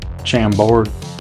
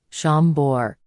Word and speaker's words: Chambord: ounce of chambour but like we say it down in the South Chambord foreign damn dad given the South's history maybe you ought to stick with the French pronunciation Sean bore that